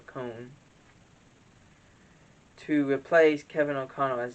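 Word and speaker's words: Coen: to say this oh liam cohen excuse me i'm calling a cone to replace kevin o'connell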